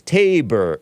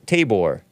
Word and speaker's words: Tabor: always heard maybe that's a Mama rural it's Tabor Tabor it's the mountain in the Bible where the